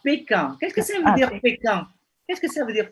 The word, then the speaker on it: Pékin: Donc, Pékin, ça c'est... Les Français, ils ne prononcent pas Beijing.